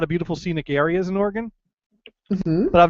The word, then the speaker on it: Oregon: what would they say it's not Oregon Trail it's Oregon Trail let tell you I have to make an effort to say it wrong because I I I know that it really is Oregon and that's how I've always said it but um no it's Oregon but but but Kristen insists